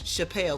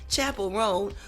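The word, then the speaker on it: Chappell Roan: name of Chapel ran I would always say her name was Chappelle because it looks like Dave Chappelle but Chapel rone who had just walked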